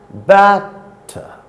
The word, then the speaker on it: batter: Batter is a foot consisting of 2 syllables, certainly, but it is not an iamb, because in this case it is the first syllable which is stressed and the second syllable is unstressed.